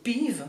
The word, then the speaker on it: pive: It's a fir cone (Picea abies cone) We call it "pive" in swiss French (pronounce "peeve" lol) They are built just like a hair !